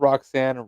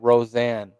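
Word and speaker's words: Roxanne: you didn't catch that she got got her name wrong no what she say she called roxan Roseanne I'm screaming call her Rosanne Perez not Rosanne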